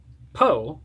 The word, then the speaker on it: POEE: Poe, pronounced Poe, is an acronym for the Periatheo Animetamystichood of Eris Esoteric.